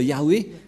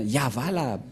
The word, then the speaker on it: Yahva: que dans la translittération, ça ne devrait pas du tout être Yahweh qui ont induit en erreur les catholiques romaines. Car dans le Sefer Torah, c'est bien Yahva la prononciation. Et on va prendre en photo, car certains aussi disent que c'est Yahwa, mais pas Yahva.